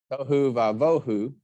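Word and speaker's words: תֹהוּ וָבֹהוּ: Word I told you that's pronounced tohu. Tohu vavohu, without form and void.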